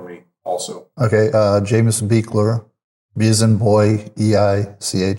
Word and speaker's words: Beichler: tell me your name at once more and spell it for me also? Okay. Uh, Jameus Beekler Bizen Boy Ei L E R.